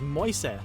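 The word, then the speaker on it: Mäuse: The Agile Aardvark says, the plural of mouse is moise. English native speakers could pronounce it rather easily using the first part of moist.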